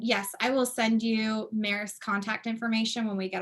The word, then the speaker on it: Marist: Marist, Marist, M-A-R-I-S-T, Marist, phonetically as it sounds.